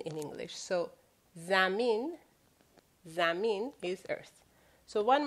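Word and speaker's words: زمین: Earth is zamin. Zamin. You notice the way it's written is z, me, e, and n at the end. When I say n, of course, it's the equivalent of n in English.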